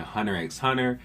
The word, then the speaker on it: Hunter x Hunter: Sasuke the Savage here, and today I'm going to be talking Hunter x Hunter. And yes, I pronounced the X in Hunter x Hunter. If you got a problem, I don't know what to tell you, alright?